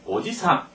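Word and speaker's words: おじさん: 오지상 그런데 어 삼촌 삼촌은 어떻게 오지상 해서지가 짧으면 삼촌이고 지하고 길면 할아버지입니다 이거 아주 조심해야 되죠 그러니까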